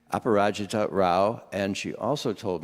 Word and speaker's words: Aparajita: Aparajita, she just told me how I should pronounce her name. Aparajita Rao, and she also told me, Pari, by the way, she goes by Pari.